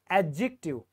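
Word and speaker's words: adjective: एडजेक्टिव क्या होता है एडजेक्टिव ध्यान से यह जो दी है ना यह जो आपको दी दिखाई दे रहा है यह साइलेंट है यह नहीं बोला जाता अगर कहीं पर भी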